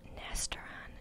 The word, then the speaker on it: Nastaran: was a woman named Nastaran Shams. Okay, that's pronounced Nastaran in New English, by the way, but she goes by Nast.